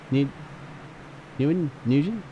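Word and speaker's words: Nguyen: New Yen Newan. There it is. Nen New Yen. You got it. Like the like the Japanese money.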